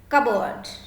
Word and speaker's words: cupboard: For example, cupboard. Cupboard is cupboard. We pronounce like this, cupboard.